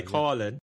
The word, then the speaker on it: Coughlin: Do you pronounce Derek it Coughlin? We say Coughlin.